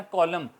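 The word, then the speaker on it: column: इस तरह कॉलम, रोज़ और कॉलम होते हैं तो हम उसको कॉलमन लिखते हैं मगर बोलते हैं कॉलम, एन यहाँ भी साइलेंट रहता है।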